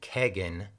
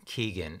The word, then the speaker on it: Kegan: klein in an interview his half-brother pronounced his name kagan not keegan so i'm gonna go with kagan like there's a keg in the frat house his nickname is apparently